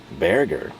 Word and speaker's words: Berger: one can be so I'm going to go with beer right we're going to think of bear paints right be HR paints but you pronounce it in English as bear like grizzly bear paints and then think of hamburger so I'm combining the bear of bear paints and the uh end of hamburger and that's what we're